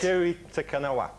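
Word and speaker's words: Kiri Te Kanawa: Kiri Takanawa.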